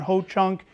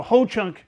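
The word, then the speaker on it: Ho-Chunk: would say you know Ho Chunk rhymes with blow chunks or you know sounds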